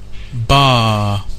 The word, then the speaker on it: bar: saying no it's not it's bar without any r at the end without the r so this causes a